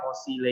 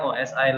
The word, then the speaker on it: OSI: di luar negeri ini sebab bacanya bukan oshiete tapi osay jadi Indonesia yang bacanya oksida er Kalau diluar itu sebutannya OSI layer Apa itu posisi layer